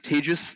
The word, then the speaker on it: Tejas: mentioned my name is tagis that's pronounced like contagious um and unfortunately I